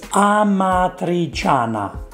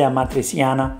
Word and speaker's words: amatriciana: make was pasta amatriciana i understand you can't pronounce it it's amatriciana i know it can be difficult you can say matriceana but ah matri chana if you want to